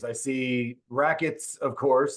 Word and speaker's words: RAQTS: I see RAQTS, of course. I assume that's pronounced just like rackets, even though it's RAQTS.